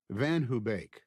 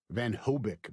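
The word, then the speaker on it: VanHoebeek: The first time Mave and I ever parked on Van Hubake Street, Van Hubake, mispronounced as Van Hobic by everyone in Elkins Park, was the first time I'd come home from Chot for spring break.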